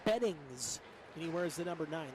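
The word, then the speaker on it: Bettignies: that one was difficult so i had him spell it to me phonetically and it's de beddings he wears the number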